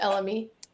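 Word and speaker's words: elemi: the world has moved G so black pepper elmi is elmy how we how how do we pronounce that it's elmy elmy Ginger incense Amber tonka bean smoked Papyrus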